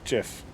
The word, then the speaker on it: GIF: I slowly turned your voice down as you were talking and trying to explain how you pronounce GIF wrong. It's soft G GIF.